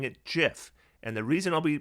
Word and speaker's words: Giff: their name is pronounced half of them say it with a hard g half with a soft g disagreements over the correct